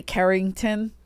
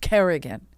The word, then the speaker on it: Kerrigan: name wrong Kerrigan oh sometimes they'll say Carrington it sounds classier sounds like you're British royalty we're not British we're Irish Kerrigan say it right k e double r i g a